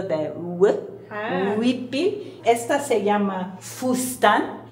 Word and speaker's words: fustán: Esta se llama fustán, y los mayas de aquí no pronuncian la palabra fustán, no pueden hacer el dicen justan.